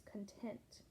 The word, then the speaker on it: content: different things, but you see I changed the pronunciation. It's content. Let me read it again. While others eat eggs, pancakes, and bacon for breakfast, Mike was content with a piece of toast and a glass of orange juice.